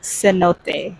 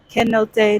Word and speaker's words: cenote: want to say that it's Cenote not quenote not see no none of that it's Cenote and I keep saying it wrong like it's Cenote Cenote so I apologize for